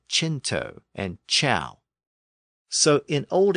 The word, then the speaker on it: cent: So in the case of the French word for hundred, C-E-N-T, pronounced cent, it became anglicized to cent, and it appears in